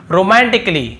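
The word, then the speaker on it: romantically: उच्चारण नहीं हो रहा है और फिर देखिए रोमांटिकली रोमांटिकली यहां पर भी देखिए ए का उच्चारण नहीं हो रहा यदि होता तो क्या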